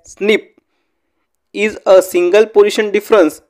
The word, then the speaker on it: SNP: single nucleated polymorphism or snp pronounced as snip is a single position